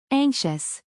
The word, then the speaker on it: anxious: Word number four, anxious. Anxious. Sarah, can you break it down for us? Pronounced a n g k s h u s.